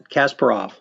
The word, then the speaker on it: Kasparov: Gary how do you how do you say his last name Kasparov or Kasparov that's Kasparov okay so you know